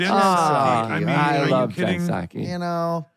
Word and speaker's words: Psaki: I mean, I love Jen Psaki. You know, anybody with a silent P, especially with she should open the sushi place, right?